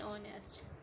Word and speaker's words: honest: Because H is silent, so that will be an honest.